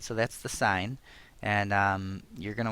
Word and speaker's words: sine: s i n and make sure you don't say sin we pronounce it s even though we've written it as in so that's sign and the ratio of